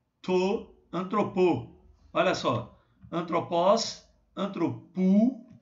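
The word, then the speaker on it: ἀνθρώπου: Aqui é antropos, aqui é antropu. Ok, gente? Aqui, ó, é um ditongo, um ômicron com um Y. Pronuncia como um U. Então, rema, tu, antropu.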